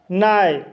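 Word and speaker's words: nigh: नाई। नाई शब्द में I के बाद GH आया है, इसलिए GH साइलेंट रहेगा, इसलिए इसे नाई पढ़ा जाता है।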